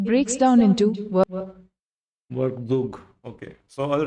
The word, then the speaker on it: Werkzeug: The German word Werkzeug, meaning tool, is pronounced work झूग work tsoyk, vktsk. It breaks down into Workzug.